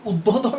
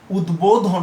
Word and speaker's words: উদ্বোধন: আমাদের এর পূর্ববর্তী নিয়ম অনুযায়ী এটির উচ্চারণ কিন্তু উদ্বোধন হওয়ার কথা, উদ্বোধন, কিন্তু না, এখানে যেহেতু এটি সন্ধিবদ্ধ শব্দ সে কারণে এটি উদ্বোধন হবে।